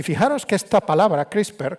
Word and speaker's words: CRISPR: Y fijaros que esta palabra CRISPR, que la tenemos que pronunciar en español con esta E muda que no tenemos, CRISPR, que está en boca